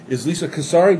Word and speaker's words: Casarez: My guest for this segment is Lisa Casarez. Did I pronounce that you right?